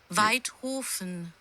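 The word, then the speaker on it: Waidhofen: Weidhofen. Weidhofen. Oh yeah, I forgot in German W's are pronounced with like a V sound.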